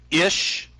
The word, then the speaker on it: Ish: that really your name ish ish just happens to rhyme with fish um I actually shortened